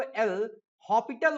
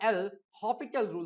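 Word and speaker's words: L'Hôpital: हैं एलएच रूल का वैसे तो इसको एल हॉस्पिटल बोला जाता है लिखा हॉस्पिटल जाता है अगर आपने इसके स्पेलिंग देखा होगा तो इसको एल हॉस्पिटल लिखते हैं यह इसका पूरा फॉर्म होता है एल लिखा हॉस्पिटल जाता है बट जो इसका प्रोनाउंस एशन है वह एल हॉपिटल रूल होता है तो एल हॉपिटल रूल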